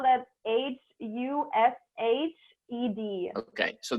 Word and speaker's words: Hushed: You spell that HUSHED. Okay, so that's an app called Hushed. Like Hush. And that's an app.